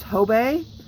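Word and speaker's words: Hobé: ever see homemade jewelry its h OB e with that little French I don't know what that's called Astrix in imaging that's what I'm gonna call it above the e that's ho BAE that's how it's pronounced and you pick up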